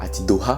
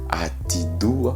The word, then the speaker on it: atidoha: Le cerveau, atido, pas atidoha. Si je le dis au ralenti, ça donne atidoa, mais on prononce pas le H.